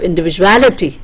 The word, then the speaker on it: individuality: Then you have individual, then you have individuality, the ality part is stressed.